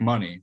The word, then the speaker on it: Money: But then I went on their website and yeah, it's Blake Money with just like money. Oh, you're right. I made up Mooney in my head.